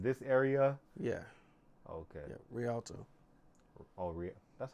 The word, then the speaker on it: Rialto: Yeah, Rialto.